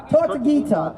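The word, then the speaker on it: Tortuguita: The effects of Cop City have already taken the life of a forest defender, Manuel Tortugati. If somebody say his name, if I didn't say it correct. Their name. Tortugita.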